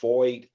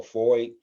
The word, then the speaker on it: FOID: So when the process of getting a FOID card, and again, that's pronounced FOID as in Lloyd, but with an F, so FOID, not spelled the same,